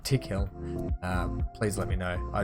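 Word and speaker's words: Tickhill: So anyone that has those tips or those pronunciations or anything, much like back in the day I kept saying Thick Hill instead of Tick Hill, please let me know.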